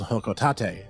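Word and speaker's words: Hocotate: to his home World hoko Tate and yes that is apparently how it's said given that later generation Smash Bros games confirmed this even though I will argue hotate Freight is much cooler sounding anyway putting that aside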